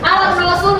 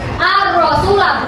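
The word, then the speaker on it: الرسول: Jadi ketika ada alif lam, ada huruf setelahnya ada tasydidnya, maka cara bacanya langsung masuk ke huruf setelahnya itu. Ar-Rasulah bukan al-Rasul.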